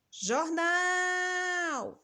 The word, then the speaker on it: jornal: dar mais um exemplo jornal olha onde a gente demorou mais o nal o nal é a última sílaba da palavra quando é a última a ser pronunciada com mais intensidade com mais força ela é também chamada de oxítona e o último exemplo